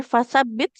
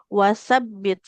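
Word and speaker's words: وَثَبِّتْ: Kemudian bukan fasabbit tapi wasabbit. Huruf wunnya jangan berubah jadi fa.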